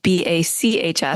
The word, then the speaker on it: bacs: It's not b. It's spelled like Johan Sebastian.